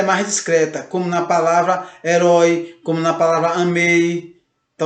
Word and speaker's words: herói: Assim também como na palavra herói. Você percebe herói. Você não diz herói, você diz herói. Então o O você percebe que ele fica mais presente, ele fica mais forte na frase, na palavra, melhor dizendo.